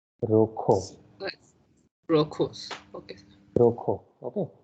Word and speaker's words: rojo: Roca. Rokho. Rocos. Okay. Rokho. Okay. Kh sound is Rocco. again there for the letter J. So it is Rokho.